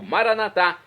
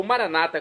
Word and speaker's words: Maranata: eu clamo do aramaico maranat como dizemos nossos católicos ou Maranata como dizem nossos irmãos separados das Comunidades evangélicas e Protestantes não importa pronúncia o significado é o mesmo vinde Senhor Jesus um